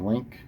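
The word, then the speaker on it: LINQ: I think you pronounce it. The Link is how you pronounce it.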